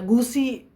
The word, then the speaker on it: 故事: 故事 ya gusi bacanya 故事.